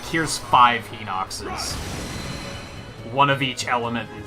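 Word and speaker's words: Hinox: is that just a I hate that it's pronounced he knocks because I saw a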